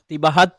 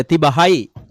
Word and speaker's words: තිබහයි: திபஹத் இல்ல, திபஹாய்.